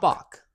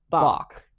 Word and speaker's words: balk: that we Googled it, and the correct pronunciation is basically saying a W instead of an L. So, ba ba Bock.